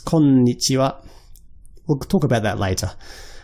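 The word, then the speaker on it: こんにちは: So before, when you heard me say konnichiwa, there's actually an n in konnichiwa. So it's not konnichiwa, it's konnichiwa.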